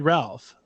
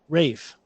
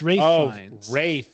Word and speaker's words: Ralph: don't think it's said Ralph I don't think it's pronounced Ralph the way he pronounces it Rafe it's Rafe yeah you're right that's